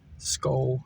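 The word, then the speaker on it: Skoal: Skull, I don't know how to pronounce it.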